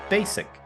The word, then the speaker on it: basic: You mispronounce a very basic word, basic. There's no Z in there.